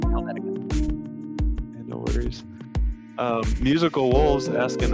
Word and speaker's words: Helvetica: I believe it is Helvetica.